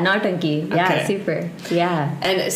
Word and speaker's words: Nautanki: I'm gonna go for a pronunciation try here. Please let me know if it's wrong. Nautanki? Yeah, Nautanki.